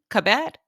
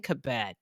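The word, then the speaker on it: Cabot: You were like, "Listen, you're saying her name wrong. This is how you formally pronounce it." Okay. All right. All right. Kristen Kabette, thank you for that heads up to the viewer.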